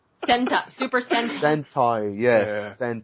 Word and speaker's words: Sentai: It rhymes with hentai! Sentai, Super Sentai.